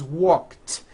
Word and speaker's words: walked: The word walk, which has an unvoiced K sound at the end, walk, becomes walked.